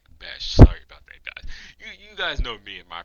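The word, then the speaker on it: Bech: Smith looking for Jack Beck. Jack Bes, I actually think Let me see. Jack I actually No, it's Jack Bash.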